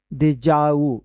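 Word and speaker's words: déjà vu: देखिए देजाऊ जो है एक फ्रेंच वर्ड है। फ्रांस फ्रांसीसी भाषा का शब्द है। देजाऊ इसका ऐसे उच्चारण होता है।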